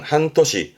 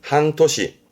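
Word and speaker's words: 半年: 발음은 한 토시. 한 토시.이 이 대표 단어라는 건 본인이 외우기 쉬운 단어로 하나쯤 정리를 해서 반복해서 외우는 거지요.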